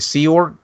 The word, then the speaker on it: Sea Org: You were at I believe I'm pronouncing this right, Sea Org?